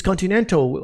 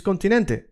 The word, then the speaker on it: continente: Is it continental? Maybe it's continental, uh los continenta. No, it's continente.